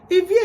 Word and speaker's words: Ivie: I don't want people saying Ivie. No, Ivie is too big in Benin culture for you to pronounce the wrong way.